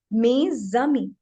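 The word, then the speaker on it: mes amis: We will say mezami, right? So the first we have to see that we will speak it like this, me and ami. And if with the liaison, mezami, mezami. This is how we are going to speak.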